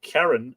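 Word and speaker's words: Cairenn: is the Norman sorry her name in the nominative is Karen c-a-i-r-e-n-n which is the same rhyming with farron f-a-i-r-e-n-n what's the point of that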